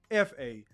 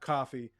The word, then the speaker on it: Kofa: Once again, I have been your humble host, Kofa, your favorite YouTuber's favorite YouTuber, Kofa, not coffee, not Kufu, not Kofi, or any variation thereof. Kofa rhymes with sofa.